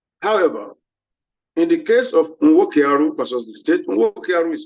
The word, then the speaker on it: Nwokearu: However, in the case of Nwokearu versus the state, Nwokearu is spelled N-W-O-K-E-A-R-U.